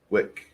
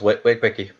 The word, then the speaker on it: Wick: In the game with me today is Chris, playing Taneev, Kurt, playing Slighton, and Connell, playing Wick. Because it rhymes with dick. I was wondering if it was Wiki.